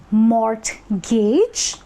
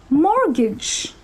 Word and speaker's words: mortgage: It is not mortgage, because it's not like Mort, the guy is trying to gauge something. It actually happens to be mortgage, wherein the T is silent.